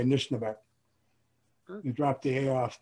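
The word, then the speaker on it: Anishinaabeg: In the title, how do you pronounce this Anishnaabeg? I'm not sure. Anishnaabeg, yeah. Anishnaabeg.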